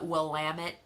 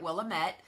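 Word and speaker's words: Willamette: different wineries in the will lamit Valley we which we learned when we were calling it will a met like idiots never well that's exactly what it looks like it's pronounced but then you get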